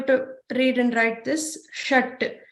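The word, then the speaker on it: षट्: So there is a ta, we have learned in the ta varga, halant at the bottom. So that line indicates that you're not going to pronounce the full letter like ta, you're going to pronounce t, shat.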